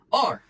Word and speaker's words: or: Então, por exemplo, essa palavra or, você pode pensar como se tivesse um o assento agudo.